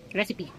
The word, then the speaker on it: recipe: police, cereal, recent, with the side, recite, Recipe. Hindi siya silent P sa dulo.